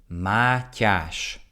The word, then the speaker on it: Matyas: guys can get this okay maash maash the Ty in there is very uncommon in other languages it's a sound in Hungarian so let me know if you guys can get it maash what other interests do